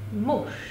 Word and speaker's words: muž: Muž, muž, předseda, předseda, mind the pronunciation, muž with an š, předseda, we are not pronouncing předseda, předseda, soudce, soudce, and mluvčí.